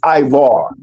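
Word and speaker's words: עברי: The way you pronounce Hebrew in the Hebrew language is ivar or okay is dealing with a possession.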